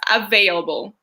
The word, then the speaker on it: available: asking us to pronounce available, the one that you just said. Okay, it's a harsh one. Available. So the V is just like that, your bottom lip and your top teeth, and it's tricky.